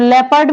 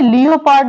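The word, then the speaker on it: leopard: है लेटर है जैसे यहां पे वर्ड है लेपर्ड तो लेपर्ड में जो ओ है लियो पार्ड नहीं पढ़ते क्या पढ़ते हैं लेपर्ड तो लेपर्ड में जो ओ है वो यहां पर साइलेंट है नेक्स्ट वर्ड है रफ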